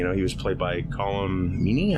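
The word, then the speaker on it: Colm Meaney: he was played by column meanie I believe that's how you say his name TMG in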